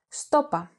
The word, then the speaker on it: σου το είπα: This can also be pronounced στόπα, with the pronoun σου and the verb form είπα contracted.